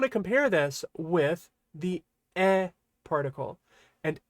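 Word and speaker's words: へ: When used as a particle, this toward directional particle means e. It's always pronounced e. Right? So this will be pronounced e and not he.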